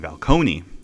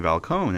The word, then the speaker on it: Falcone: called them just Carmine Falcone and everything adding the e but but and then when I watched the Batman and everything I realized oh the E is silent so it's just Carmine valcone and everything that kind